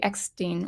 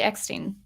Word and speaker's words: Eckstein: In this case, with Ashley Eckstein. I keep saying Eckstein. She pronounces it Eckstein.